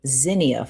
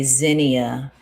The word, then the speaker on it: Zinnia: This is a Zenia flower. This is how I pronounce it.